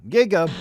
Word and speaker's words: giga: it's a gigafactory giga kinda rhymes with gaga and describing the author